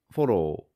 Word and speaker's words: フォロー: In Japanese, foro also has the two O sounds, but the O sound is consistent. Fo and ro. About that fo, it's not in the original Gojuon hiragana chart. It's made by combining fu with a small o to approximate the English fo, making the fo sound.